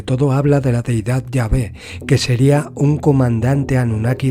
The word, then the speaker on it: Yahvé: que puede ser pronunciado la pronunciación más correcta sin embargo sería llave un antiguo texto y